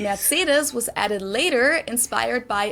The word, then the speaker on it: Mercedes: most americans call this mercedes in german we pronounce it mercedes so mercedes versus mercedes